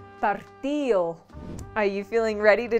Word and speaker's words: partido: For example, the word casado is pronounced casao, dedo is pronounced deo, partido is pronounced partido.